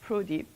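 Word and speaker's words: ProDy: We pronounce it PRODI.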